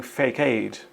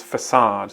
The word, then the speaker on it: facade: during the evening performances yes it sounds like she's saying fake Aid and it means Frontage so what word means Frontage and could be mispronounced as fake Aid here's the answer the the's fake a was beautifully illuminated during the evening performances yes the correct word is facade the facade of a